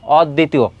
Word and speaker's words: অদ্বিতীয়: অদ্বিতীয়, খেয়াল করো এখানে আমি বলেছি ব ফলা আর ম ফলার ক্ষেত্রে যদি একটা শুরুতে থাকে আর শেষে থাকে তার উচ্চারণ হয় না, কিন্তু এখানে রয়েছে মাঝে, অর্থাৎ মাঝে যদি থাকে যেই বর্ণের সঙ্গে থাকবে সেই বর্ণটি দিতে হবে। কার সঙ্গে আছে? দয়ের সঙ্গে। তাহলে দ দুইবার হবে, অদ, তারপরে কি হবে দি, তারপর হচ্ছে তি ও।